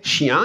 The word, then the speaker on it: chiens: quand je dis les chiens il y a un S au bout de chien là que je n'entends pas en fait que je ne prononce pas et pourtant ce s